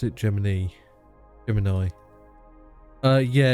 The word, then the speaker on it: Gemini: on but it was a very common uh pronunciation of Gemini it's very common for like especially I think Texans which obviously you know a lot of NASA was from uh the southern states um they pronounce it Gemini Germany the Germany